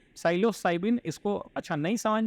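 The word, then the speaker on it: psilocybin: ठीक है, P silent होगा, साइलोसाइबिन.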